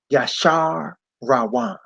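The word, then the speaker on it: Jeshurun: me see it right this says gesture 1 but it's pronounced ya Shah rowana he was king in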